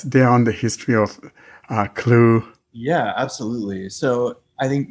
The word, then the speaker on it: CLEW: and we're talking about an app called the clue c-l-e-w um is that the right pronunciation of the app paul yes yeah absolutely